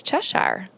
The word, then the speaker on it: Cheshire: And so at my table, we have Micah Lynn and Cheshire. Did I say it right? Yes. Cheshire. Cheshire is good.